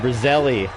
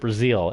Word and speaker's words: Brazile: held and brazilian make sure i'm saying this right you know i gotta check my pronunciation brazilian brazilian let's let's learn together i know someone's gonna hate the way i pronounce some of the teams but you know houston whalers dr doom what they called him bum name brazil robert brazile excuse me that's why we check robert brazile i know most of